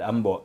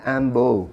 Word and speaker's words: Ambo: tawag niya sa akin ambo. Ambo. Oo. Pilit ko siyang kino-correct. Sabi ko, "You know Tom, it's not Ambo, it's ambo." Sabi ko, "AC on the second syllable."